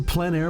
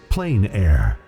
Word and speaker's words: plein air: The French pronounce it plein air. Others say plain air.